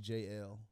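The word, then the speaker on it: Jaelle: It's like J-A-E-L-L-E, but it's pronounced J-L.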